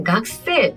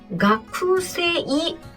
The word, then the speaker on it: がくせい: 먼저 넣어 볼게요 자 학생이라는 단어는 세라고 읽습니다세요 그렇죠 질문 나올 줄 알았어요 예 각세 이거요 다 읽으면 쿠세이 아닌가요 그렇죠 다 읽으면 쿠세 이데요 그런데 이렇게 가행 글하고